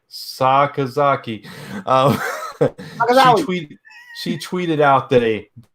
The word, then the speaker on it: Sakazaki: I'm gonna say it right, Sakazaki.